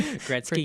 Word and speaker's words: Gretzky: Wayne Gretzky, I think. Is that how you say his name? Gretzky, yeah.